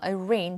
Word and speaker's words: arraign: arraign, G는 묵음이고요.